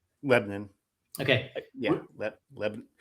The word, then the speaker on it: Lebanon: By the way, do you pronounce it Lebanon or Lebanon? Lebanon. Okay. Yeah, Lebanon. You have to do like the Midwest, like Lebanon. Something like Lebanon.